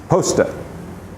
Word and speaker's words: pasta: for Linguini or spaghetti this word p s r is Posta as in will you please post a package to somebody Posta uh tosta you don't really pronounce that r on the end at least not very strongly it it sounds to me more like an A but you do